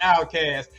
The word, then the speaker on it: Outkast: Outkast. Pronounced outcast.